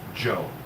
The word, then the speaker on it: Zhou: spelled which is uh pronounced Joe. Like it was j o, so.